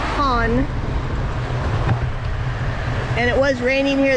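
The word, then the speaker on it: Cannes: only 20 minutes we're heading to can's pronounced con and it was raining here this morning and the weatherman says severe thunderstorms and flooding and cons so we'll see as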